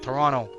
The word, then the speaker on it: Toronto: we pronounce it so we don't say the T we we use an r instead Toronto but you know what